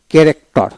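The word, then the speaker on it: character: তারপর আসেন ক্যারেক্টার, ক্যারেক্টার, কে সি এ কে আর এ C, correct, T ই R, corrector, এই উচ্চারণ হবে না।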